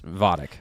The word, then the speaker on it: Vajdic: correct correct yep and your last name is pronounce vodic vodic yeah it can get you